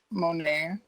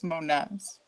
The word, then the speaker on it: Monez: I know you guys say like Monet, but it's Monez.